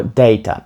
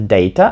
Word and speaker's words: data: - це Data або Data його можна вимовляти двома способами американці в основному кажуть Data а британці Data тут Як вам подобається